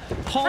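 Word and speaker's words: 홍: So he's not saying hong out. They pronounce it hong, H-O-N-G.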